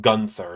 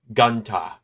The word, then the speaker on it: Gunther: So it's not Gunther, it's like Gunta or Gunta.